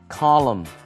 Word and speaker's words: column: 这里呢，我们来学 column，报纸、杂志上面的这种专栏叫做 column。那么它最后的 n 是不发音的，所以是以 m 的这个鼻音作为结尾，叫 column。这边提到说 I need a writer